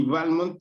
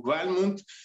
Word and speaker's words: Balmont: a veces digo balmonto a veces digo balmont esto es porque según estuve investigando el padre de su padre de de decía que tenía que acentuarse en la primera letra es decir el pronunciado balmont pero después Este su primera esposa de balmont ella dijo No no no se debe decir balmont Entonces digamos que hay